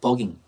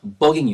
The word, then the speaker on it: bugging: 버깅. 발음 조심해야 합니다. B 발음입니다. B가 B 발음이에요. 이거 F 발음은 큰일 납니다. 이거 발음할 때 F 발음은 큰일 나요. 그래서 bugging you.